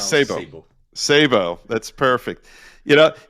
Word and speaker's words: Sebo: saying your name right yeah yeah it's correct Sabo it's not Sao but Sabo we pronounce Sabo Sabo that's perfect you know so you are